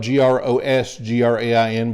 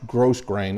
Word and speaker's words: grosgrain: mentioned this in a in another video grosgrain is spelled g-r-o-s-g-r-a-i-n but it's not pronounced gross grain it's pronounced grosgrain and all that means is